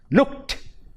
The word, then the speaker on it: looked: and third one look looked the t sound is added to it now next one the